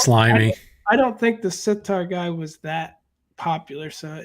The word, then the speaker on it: sitar: I always mispronounce the name of the instrument he played, but no, it's a sitar.